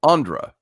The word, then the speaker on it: Ondra: picked up on do you pronounce your name with a Longo ondra or is it Andra a short o I always say ondra undra yeah you're asking how are you gonna write that out there well I suppose he could fanatically spell it for us yeah that's it's like a short oh Andra there you go speaking